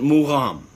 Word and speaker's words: Mugham: And they call that maqam. And the Persians, they pronounce it magham. And the Azerbaijanis, they pronounce it Mugham. Okay? So from the Arabic maqam to the Persian magham to the Azerbaijani Mugham, it's a very connected, related tradition.